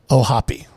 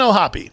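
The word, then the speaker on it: O'Hoppe: p e two consonants is that vow supposed to be long yes with the two consonants if there was only one it would be hope oh hope Indiana's education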